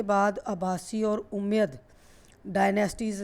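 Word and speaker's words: Abbasid: अब्बासी, यहाँ डी जो है इसको प्रोनाउंस नहीं किया जाता, इसको अब्बासी बोलते हैं।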